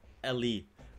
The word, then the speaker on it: Elle: to pronounce it le in Germany we would say ello ello but that is like far from correct I would say Ellie Korea interview with Rosie like